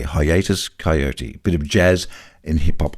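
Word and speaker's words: Hiatus Kaiyote: And for all those overseas listeners, if there's an Australian band you want to get into, I would recommend Hiatus Coyote, spelt with a K. Hiatus Coyote.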